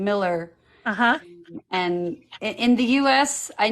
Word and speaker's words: Millar: okay little the burning question is the correct pronunciation is Miller okay it's Miller okay and your name twinning I know except